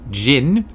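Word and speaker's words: Djinn: Find out if it's true starting March 23rd, when Jin, even though it's spelt with a D, I believe it's pronounced Jin, take over the neighborhood.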